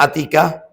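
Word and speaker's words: عاتكة: Ada orang yang namanya Atikah. Ini Atika. A-nya anu dobel dua panjang bacanya. Atika pakai ain makanya ada komanya pakai ain. Atikah.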